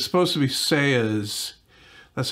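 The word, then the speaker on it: SEAS: this is a i think of it as c's but it's supposed to be say is that's how you pronounce it and it's a ca 21 rex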